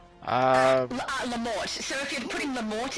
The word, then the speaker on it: la mort: Yeah, but the T is silent. What T? It's la mort, not la mort.